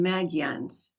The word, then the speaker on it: Magyans: They are called by the Spanish Magallanes or Maguanes, but I adopt their own pronunciation of their name and call them Magyans.